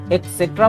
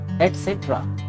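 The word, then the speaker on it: et cetera: इसका correct pronunciation क्या होगा? क्या आप भी इसको एक्सेट्रा बोलते हो? एक्सेट्रा। This is नॉट एक्सेट्रा, this is एटसेट्रा।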